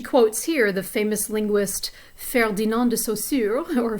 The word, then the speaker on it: Ferdinand de Saussure: And as she quotes here, the famous linguist Ferdinand de Saussure, or Ferdinand de Saussure, if you want to say it with a more English pronunciation, said that a word is like a